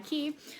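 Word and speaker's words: Quay: it's an Australian brand I know it's a weird pronunciation but qu a Y key they were having a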